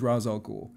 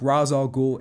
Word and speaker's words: Ra's al Ghul: Joker but mine is Ra's al Ghul from the comic so in the comic book Ra's al Ghul is actually it's mainly pronounced rage in the Batman animated series but he's essentially like